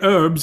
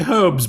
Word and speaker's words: herbs: differently and he's like you say herbs and we say herbs because there's a H in it I mean that